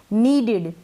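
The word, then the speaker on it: needed: अब यहाँ पर ये जो डबल ई है ना, इसको हम बड़ी ई के रूप में पढ़ रहे हैं, बड़ी ई के रूप में। नीडिड, क्या हो गया ये, नीडिड, और एन का न बन गया।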